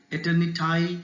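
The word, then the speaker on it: eternity: लाई के साथ में, लाई का प्रोनाउंसिएशन लाई है तो एटर्निटाई होना चाहिए ना, लेकिन हम आज इसको क्या बोलते हैं, एटर्निटी।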